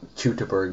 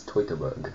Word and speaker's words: Teutoburg: new screenshots from the Tober Forest do I pronounce that right F you did uh anybody who is a German speaker would be very happy with you it's uh not chuber but it's Tober so yeah that was